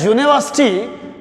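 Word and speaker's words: university: Wrong, ये गलत होगा, क्योंकि जब यूनिवर्सिटी का मैं तलफ़ुज़ देखूं तो यू नी वास्टी, तो यहां पर फर्स्ट हमारे दो शराइत है।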